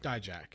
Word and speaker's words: Dijak: Or D-Jack. Dijak. Okay. How do you pronounce it? Dijak.